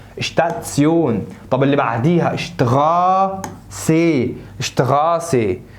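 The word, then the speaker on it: Station: زي المقطع ده الاس تي تنطق اشت اشت اشت، اكنك بتقول حد اشت وشفت كده. شتات، لا ركز بقى، احنا قلنا الاربع حروف دولها تسيون، يبقى شتاتسيون اشتاتسيون.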